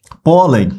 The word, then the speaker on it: pólen: Terminada em -n, pólen, pólen das flores, né? Ó, pólen, separei as sílabas, paroxítona, terminada em -n.